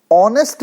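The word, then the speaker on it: honest: एन ए एस टी जिसमें हम ह को साइलेंट रखते हुए ऑनेस्ट बोलते हैं दोस्तों तो ऑनेस्ट किस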